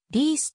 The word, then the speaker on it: リース: ベールずカーディフ出身マシューリスト紹介されているがリースと発音する 1996 年に王立